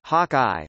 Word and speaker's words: HawkI: Hockey, pronounced Hawkeye, provides expert support monitoring of all USGNC systems, leaving the ADCO to coordinate with other flight controllers and MCCM.